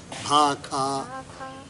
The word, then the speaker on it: भाखा: भजन प्रभाव भांति बहु भाखा, जन भांति बहु भाखा भाखा भाखा ऐसे उच्चारण करते हैं उत्तर भारत में। शाह को खा, इसको खाई बोलते हैं।